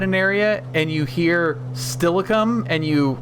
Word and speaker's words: Steilacoom: Okay, but tell them how it's actually pronounced. Steilacoom, which doesn't, like, when you see it, it doesn't sound like that.